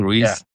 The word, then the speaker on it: Ruiz: Did I pronounce it correctly? Ruiz.